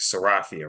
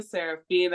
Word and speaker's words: Serafia: Before we begin, just so I make sure I'm pronouncing it right, Serafia, right?